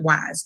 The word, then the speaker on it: Weis: Parents, since this is the parent support group, go to Weiss Market, WEIS. People say Weiss, people say Weiss. It doesn't matter. My mother pronounces it Wise.